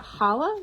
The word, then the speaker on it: Chala: Is it Chala? Is that how you pronounce it? Chala.